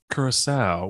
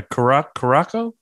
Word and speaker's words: Curaçao: Yeah, we were talking beforehand, Heather, and Nate goes, yeah, Curaçao? Yeah, they has that little symbol under the C to make it soft.